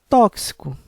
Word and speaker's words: tóxico: Tóxico é uma palavra com 3 sílabas, sendo que a sílaba mais forte é a antepenúltima, por isso deverá ser acentuado com acento agudo por ter uma sílaba tônica com som aberto.